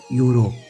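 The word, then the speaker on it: Europe: है लेकिन फिर भी इसे उच्चारण करते हैं यूरोप वाई से उच्चारण करते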